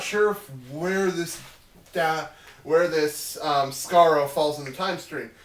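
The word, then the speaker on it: Skaro: So, hey, Scarro. Yes. That's correct pronunciation.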